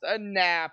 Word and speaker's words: Knapp: I got to say it, Knapp, just because who's in chat here. But it is actually pronounced a nap here.